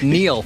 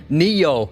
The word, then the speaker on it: Neo: Matrix he says Neil I never noticed actually you always watch it and you see him pronounce it you know his name Neo not Neil it's not Neil no it's Neil like